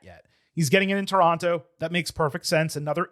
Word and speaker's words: Toronto: There's no second T. It's always just Toronto. They go Toronto.